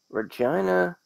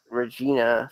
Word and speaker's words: Regina: WrestleMania 41, if we're still sticking to the theme of Central Territory, it could be Winnipeg, Regina, or Calgary. Well, that's how they pronounce it. It's not Regina, Saskatchewan. Yeah, they're not doing WrestleMania in your vagina.